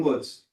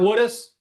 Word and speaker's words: Woods: William Woods. Did not mispronounce this one. It's not Woodus.